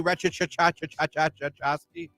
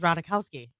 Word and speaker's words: Ratajkowski: RATAJKOWSKI. I think it's just Ratajkowski. Ratajkowski? Yeah, I think the J is silent.